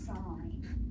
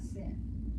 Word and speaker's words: sin: the way this is this is pronounced sign not sin so yal sin x